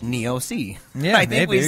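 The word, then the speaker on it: Niose: in radio but he said this uh David neosi is pronounced neosi I think we said NEOS last time he's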